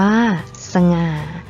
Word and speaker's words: สง่า: นํา อักษร ต่ำ เดี่ยว เสียง ของ พยางค์ ที่ สอง จะ เปลี่ยน ไป ตาม อักษร ที่ เป็น ตัว นำ เช่น สง่า อ่าน ว่า สง่า ฉลาด อ่าน ว่า ฉลาด ขยาย อ่าน ว่า ขยาย นัก เรียน สังเกต นะ